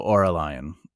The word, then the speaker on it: Aurelian: All right, so it's like aura and lion, right? So Aurelian.